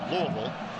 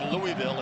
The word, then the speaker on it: Louisville: back comforter saying you're saying it wrong it's louisville but i have now lived in indianapolis for 27 years so i am prone to say louisville instead good find great